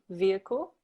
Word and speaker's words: vehicle: And also watch pronunciation of vehicle with a V, vehicle.